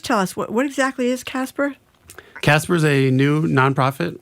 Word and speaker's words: CASPR: CASPR is how you say the acronym?